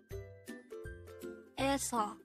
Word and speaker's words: 에서: 에서, 에서. This is pronounced with two syllables. The first syllable is 에, the second syllable is 서.